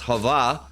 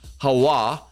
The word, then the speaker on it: Hawa: So going back, so you have this Hava, which now from the Jewish people themselves, all right, on their little site, prove that it should be pronounced Hawa.